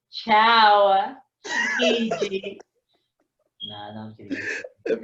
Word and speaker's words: ciaochiji: You have to say ciaochiji. It's it's an That's inside that's joke. my way. What Uh, if you had that as your intro though? Like for every video, it's like ciao, Chiji.